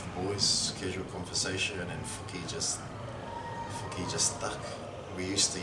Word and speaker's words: Fuki: Is it pronounced Fuki or Fucky? Fuki, okay. Yeah. If you go Fuki, it's probably not. Yeah. This is what I'm going to No. Yeah, definitely Fuki.